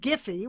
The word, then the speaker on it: Giphy: The COO of a company called Giphy, with a hard G, says politicians are getting more savvy.